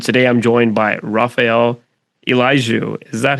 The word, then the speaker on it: Eljou: My name is and today I'm joined by Raphael Eliju. Is that how you say it? Eliju.